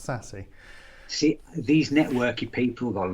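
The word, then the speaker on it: SASE: uh tom mcveigh from menlo and it is pronounced sassy see these networky people got lovely names for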